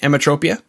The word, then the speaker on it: Emetropia: today on rock n roll podcast we have emmatropia that's why i say it right emmatropia yeah that's that's correct okay beautiful they have